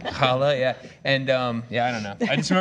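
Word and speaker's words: challah: we she brought in Hala is that right is that how you say it the bread yeah okay I want to make sure Hala yeah and um yeah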